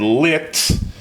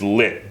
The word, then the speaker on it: lit: And noticing you're saying it, when I said it, I wanted to enunciate completely and I said lit. But really, the way you would say it is lit. The unaspirated T at the end.